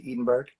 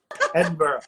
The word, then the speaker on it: Edinburgh: US talk about the I hope I'm pronouncing it right the Edenberg say that again is it the Edenberg theater Festival oh Ed Edinburgh I'm sorry I'm sorry I I'm always mispronouncing that that Festival but so many people